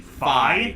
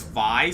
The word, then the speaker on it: Fi: I think it's fi specifically because I've heard it in Hyrule Warriors, uh, they pronounce it Fi. And considering that Hyrule Warriors, you know, was developed by Nintendo themselves, I'm going to defer to the game on that one.